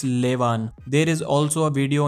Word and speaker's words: Levan: And if you are still confused how to pronounce his name, it's Levan.